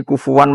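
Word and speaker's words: كفوا: Tapi ulama lain baca kufan atau kufuan. Itu ada tiga qiraah. Kufuan, kufan, kufu.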